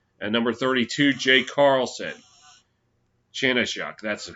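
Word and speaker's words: Chanenchuk: Chanechuk, that's how you pronounce it.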